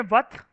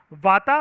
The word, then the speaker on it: वात: ए silent होता है सबके अंदर। वाता, पिता एंड काफा नहीं बोल के इसको आप ऐसे भी बोल सकते हो, वथ, पित्त एंड काफ।